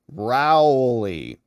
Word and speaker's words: Raleigh: Hey, Cindy DeTore says, Rob, it's pronounced Rowley. 12 red counties in Rowley, North Carolina. All right. Thanks for that one. I'll botch it next time. Sorry to our friends in Raleigh.